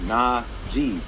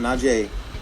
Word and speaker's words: Najee: I only tweet out, it's Najee, not Najee, it's Najee.